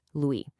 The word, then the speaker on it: Louis: First, Louis. Easy enough. The S is silent, so it's just Louis.